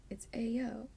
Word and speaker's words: ayo: This needs to come with like something that will actually pronounce the word for you. You know what I mean? Okay. So it's ayo.